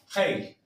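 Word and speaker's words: rei: Rey, cambiamos la y por la i latina, pero se pronuncia como si fuera un h. Hei, hey, hey.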